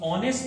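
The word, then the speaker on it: honest: मां अब हम इस ऑनेस्ट मां से पहले मेंस ए का उसे करेंगे और और का उसे करेंगे ऑनेस्ट यह चीज से शुरू हुआ है लेकिन आगे म्यूट है साइलेंट है और जो साउंड ए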